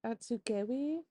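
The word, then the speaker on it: Atsugewi: right now hey it's editing Lisa here the pronunciations are atsugi and I've heard a couple of different pronunciations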